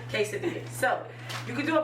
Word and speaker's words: quesadilla: and then still have, you know, like everybody pronounce it different. What is it? Quesadilla? Quesadilla? Yeah, you said it right. Quesadilla.